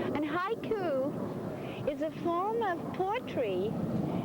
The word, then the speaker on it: haiku: It's it's a Japanese word and it's pronounced haiku. And ha coup is a form of poetry that's usually not always but usually written about things in nature.